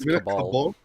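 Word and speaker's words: cabal: Do we have a cabbell, guys? Yes. And also is pronounced kabal.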